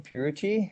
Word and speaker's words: Pierucci: real-time setting representative and your last name purity how do you pronounce it perfect as our guests today are